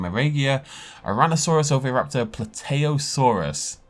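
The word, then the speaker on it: Plateosaurus: regia tyrannosaurus over raptor pluteosaurus which may be plateaus is that the first time i've pronounced that correctly in my entire life i always call it platosaurus fredocephaly spinosaurus which of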